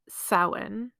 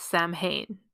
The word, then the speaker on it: Samhain: by English speakers as Sam Hayne because they look at it and they're trying to pronounce it phonetically with the English alphabet which just doesn't work because the Irish alphabet